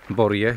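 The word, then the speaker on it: Bories: Pierwszym przystankiem na naszej dzisiejszej trasie jest stara wioska Borje, pisze się Borjes, Village de Borjes.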